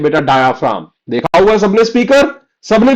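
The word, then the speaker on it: diaphragm: This is डायफ्राम। Okay? इसमें जी silent है।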